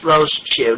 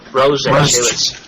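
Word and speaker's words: Rosechu: Yeah, for your information, it's two syllables, Rosachu, not Rosachu.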